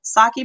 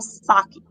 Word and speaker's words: sake: Yeah, it's 50% actual sake. Yeah, and if you ever had sake, is you that how know you what it is. pronounce it again? Sake. So the E is an A, Sake.